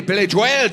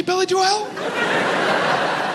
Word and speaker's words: Billy Joel: I'm like, did anyone else say Billy Joel? When I said Billy Joel, did anyone look at me strange? And then I remembered, you know who pronounces it Billy Joel? Billy Joel.